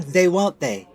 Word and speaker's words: Thuante: It's pronounced William They Won't They, better known as Will They Won't They.